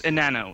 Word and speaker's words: Enano: Go ahead. It's Enano. It's Spanish.